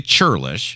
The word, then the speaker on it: churlish: world word churlish churlish not not a bad pronunciation of childish but the word is actually churlish churlish is the Stacy